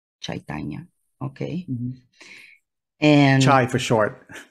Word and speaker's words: Chaitanya: my pen name okay and how do you pronounce it actually uh chaitanya chaitanya okay and try for short that's what I